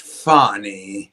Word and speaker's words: Fani: going no fonnie fonnie her name is pronounced fonnie right fonnie Fanny um Fanny